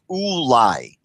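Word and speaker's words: אולי: and the Lamed, and there's no question that it's pronounced Ulai, Ulai, meaning that verse 5, it can only be read as Ulai.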